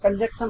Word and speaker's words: conjunction: कंजंक्शन होता है, कंजक्शन होता है, कंजक्शन नहीं कंजंक्शन होता है, लिखता हूं। कंजक्शन होता है, CONJUNCTION, कंजक्शन, कंजक्शन होता है। इसको आप क्लियर करना, JUNCTION, कंजक्शन होता है ये, यानी